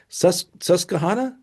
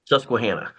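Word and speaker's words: Susquehanna: Uh, Bloomsburg to How do you I I think I pronounce it wrong every time. Sus Suscuana. Susuana.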